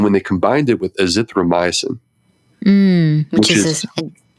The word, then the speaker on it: azithromycin: I always get that name wrong. Yeah, it's essentially the Z-Pack. Azithromycin, Z-Pack, yeah. Azithromycin.